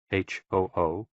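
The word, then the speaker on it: 呼: HOO, pronounced like hu, which is associated with the spleen, and XI, pronounced like shi, which connects the whole body.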